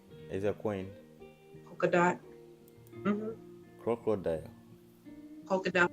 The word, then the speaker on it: Polkadot: Someone mentioned Polkadot too, Elvis. I heard that's gonna do well in the future. Polkadot. He said crocodile. Is a coin. Polkadot. Crocodile. Polkadot, like a polka dot.